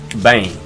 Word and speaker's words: bem: saying that right, but it's spelt like Bem. A lot of people English speaking would think if they see that spelt, they would be like Bem, Bem. But it's not Bem, it's Bang.